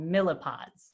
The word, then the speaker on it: MLyPod: So what's going to happen is we're going to break everybody down into so-called millipods. So that's how you pronounce this MLE-pod thing.